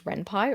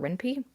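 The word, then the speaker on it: Ren'Py: developers I know uh use Renpai or Renpie depends on how you pronounce it.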